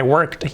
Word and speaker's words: worked: played yesterday i worked this one is quite difficult i work with a tea at the end i worked yesterday i acted remember so